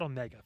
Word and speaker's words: Omega: You put the emphasis on the Meg so much. He's like, just call it Omega.